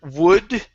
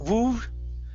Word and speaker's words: would: Next is the word would right here instead of woo. Okay, give me a D sound at the end.